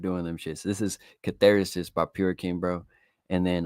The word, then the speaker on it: Catharsis: Catharsis, bro.